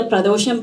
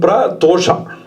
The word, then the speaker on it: Pradosha: What is the significance of doing the Pradosham Puja on Trayodashi and also Nitya Pradosham? Can you talk about it and the importance of that? Pradosha, it can be pronounced in two ways. Pradosha and Pratosha.